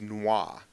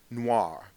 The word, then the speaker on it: noir: word of day is Noah n oi I'm really into the French these days no Noir it's F Noir Noir all right n